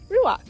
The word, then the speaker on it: ruach: this little guy ruach it's spelled like Ranch butt with a UA instead of just an A so ruak it's actually a Hebrew word used throughout the Bible